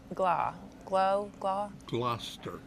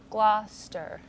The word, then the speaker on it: Gloucester: in love with Panama City so you could pronounce it like Gloucester Gloucester okay gotcha see they have another town called